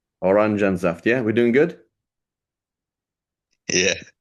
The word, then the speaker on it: Orangensaft: Orangensaft. Orangensaft. Okay, help me spell this, okay? Orangensaft. Is that right? You missed an N after And the sorry. E. Orangensaft.